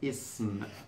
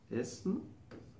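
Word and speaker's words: اسم: Name means in Arabic ism. So if I want to say my name here, let me write it for you. Ism.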